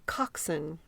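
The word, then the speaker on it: coxswain: kind of funny but it's called coxen mhm you knew that why didn't you tell me oh I didn't want to interrupt you cuz you on a roll always interrupt me when I'm making a pull out okay I'm sorry you know it's one of those words I've always seen my whole life and never had to say out loud and I just assumed and he said there's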